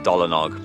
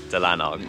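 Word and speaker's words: Dolanog: to welsh pool we thought it was called dolinog but actually it's pronounced delanog so it's been about an hour's drive here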